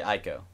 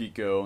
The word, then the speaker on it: Ico: I say Ico. It's pronounced eco.